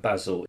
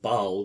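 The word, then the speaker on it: Basel: of zurich geneva and basil or baal depending on your pronunciation each separately produced their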